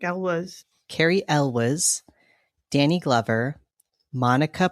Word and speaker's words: Elwes: It stars Carrie Elway. Is that how you say it? I think Elwes.